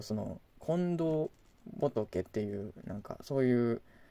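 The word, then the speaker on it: 金銅: ゴールドとどうカッパ金と銅と書いてこれ近藤さんと読むらしいです今度炭太郎さん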